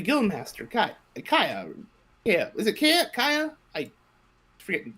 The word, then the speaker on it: Kaya: Yeah, is it Kaya? I forget the pronunciation. Kaya, yes.